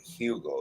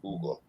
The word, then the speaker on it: Hugo: His name's not actually Hugo, it's Hugo. The H is silent.